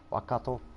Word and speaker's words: Waikato: One's called Tui, one's called Spates, Waikato, Waikato, I should say. That's how you pronounce it.